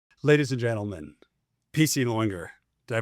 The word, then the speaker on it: Lauinger: Ladies and gentlemen, PC Loinger. Did I pronounce that right?